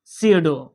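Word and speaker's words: pseudo: আছে নিন্দা করা নিন্দা করা তারা চাব পারে সাইলেন্ট পি যে সিউডো পি এস ইউ ডি ও সিউডু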